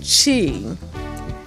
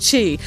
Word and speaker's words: Qi: It's really a Q and an I, but it's pronounced Qi. Or it's Cha, but here in America, it's easier for us to pronounce the I as an E. Okay, so it's pronounced Qi.